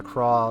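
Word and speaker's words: Croix: know they say Professor Craw like in the Japanese voice acting, but the way it's spelled I think it's supposed to be Croy.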